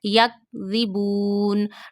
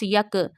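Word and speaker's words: يَكْذِبُونَ: Yak ribun. Don't read it like this yak, because kaf is not from kalkala letters.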